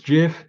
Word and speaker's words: gif: naked before it's its gift drift is just so wrong yes you're so wrong actually I will unsubscribe if you say it not you monster it's gif not give I'm sorry that's just